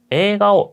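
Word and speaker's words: 映画: 여기서도 발음팁 소개를 드리면 에가라고 적었지만이 에라고 하는 발음도 아까 잘 들어보셨나요 에가라고 했어요 이런 식으로 에라고 바로 있는게 아니고 에라고이 앞에 있는 에를 끌어서 읽으시면 조금 더 원어민스러운 발 되겠습니다 자 여기까지가 제 1부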